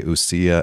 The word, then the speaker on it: ousia: So those terms are in Greek, and correct me if my pronunciation is not what you prefer, but I say ousia and hypostases.